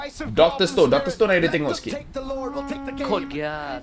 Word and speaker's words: Code Geass: that dreaded 2-2 How do you pronounce this? Code Geass? Code Geass, yeah.